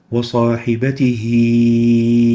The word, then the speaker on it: وصاحبته: Now that little ya indicates that the kasra of the ha of the first word, وصاحبته, is to be extended, lengthened, as if it is a vowel, ya. And we say, وصاحبته وبنيه, as if there is a ya.